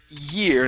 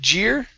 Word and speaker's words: year: And the other part is the word year instead of jeer.